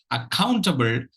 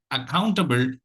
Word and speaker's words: accountable: the word for today accountable accountable the second uh syllable takes the accent the other all the